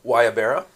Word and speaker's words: guayabera: Guayabera.